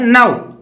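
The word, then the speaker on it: know: इसी प्रकार से हमने दूसरा एग्जांपल लिया है नौ। अब इसमें के साइलेंट रहता है, न के साथ ए उ, नौ।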